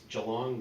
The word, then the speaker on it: Geelong: place called it's said it's spelled GTL Ong which sounds like it should say Geelong but is junk it's Joe long this is the G is soft anyway honey so anyway